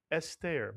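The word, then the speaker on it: אֶסְתֵּר: First syllable is es, mitsuyan. Segol under the aleph. And how about the second syllable? Ter is right. Put the word together. Esther, mitsuyan.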